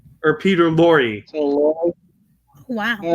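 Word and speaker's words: Peter Lorre: getting his name wrong his name is actually pronounced peter lor e or peter laurie wow all right that's fine yeah yeah i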